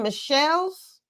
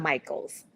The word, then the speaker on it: Michels: Is it Michelle's? Michaels.